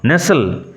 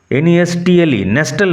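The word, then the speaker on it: nestle: দা coat coat বাসা নেসেল আশ্রয় নেওয়া উচ্চারণ লক্ষ্য করল এনসটিল নয় নেসল টি will remain silent T silent থাকবে পিজনস নেসেল ট্রাউন্ড কোট পায়রাগুলো তাদের বাসায় আশ্রয় নেয়।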